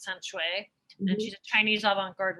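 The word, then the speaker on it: Can Xue: Her name is pronounced San Shui, and she's a Chinese avant-garde writer, and she's been like a bit of a mentor for me.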